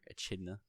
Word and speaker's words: Echidna: reading the light novel i was calling her echidna because you know that's how it's you know it's how you think you'd say it the way it's spelled but after hearing the